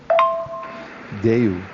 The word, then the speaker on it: দেউল: Deul. Even though actually the word, the way it is spelled, it should be Deula, but in Bengali we